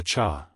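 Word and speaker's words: 刹: For Xue Cha Shu, the cha, when pronounced sha, literally translates to break, like break on a car. But I am pretty sure it is meant to be pronounced cha here, which has to do with like a Buddhist temple or shrine or something.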